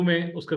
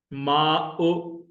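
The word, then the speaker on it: ماءُ: उ this is मा माओ नहीं बोलेंगे खोया हो जाएगा माओ खाई वो हलवे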